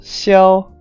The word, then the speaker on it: Xiao: So he's pronounced Xiao in Mandarin, but I'm gonna call him Xiao, just because I guess more people see him like that.